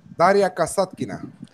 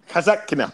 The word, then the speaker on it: Daria Kasatkina: again, Alex, I know you don't like you mispronouncing his name. Daria Kasatkina. Kasatkina, there you go.